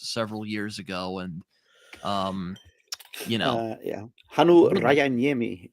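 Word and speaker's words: Hannu Rajaniemi: years ago, and yeah, Hanu Rajaniemi is how I think you pronounce it. It's Finnish, so you basically just read it as it is spelled.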